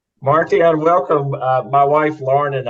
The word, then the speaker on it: Martjan: My first name is pronounced Martjan, and it's not a common name even in the Netherlands.